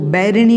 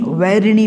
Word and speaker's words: वैरिणी: तो वन वाला वा है यहाँ पर, तो उसको बैरिणी नहीं वैरिणी बोलना है।